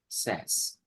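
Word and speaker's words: SaaS: software as a service we call them as SAS so as pass and SAS then there is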